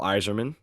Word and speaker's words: Eiserman: Same with Cole Iserman, it's spelled Eiserman, so different spelling, but still a goated name.